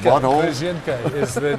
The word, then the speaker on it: Kryzhynka: I think it's pronounced butthole. Kryzhynka is the name. Kryzhynka.